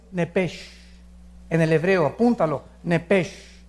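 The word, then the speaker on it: נפש: En el hebreo, apúntalo, nepesh. Se pronuncia nepej, porque la CH en hebreo es j, nepej.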